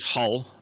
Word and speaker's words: Hull: So because I used to live just outside of Hull, which is Hull, but Oh, okay, yeah. but obviously you don't pronounce the H.